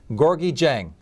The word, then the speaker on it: Gorgui Dieng: to talk about I'm going to try to pronounce this correctly gorgi Jang you got it right he's from Sagal plays